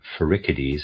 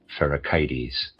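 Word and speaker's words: Pherecydes: And I would like to say I'm going to pronounce a word ficides. That's how I was pronouncing it before. I've decided I want to pronounce it fericites.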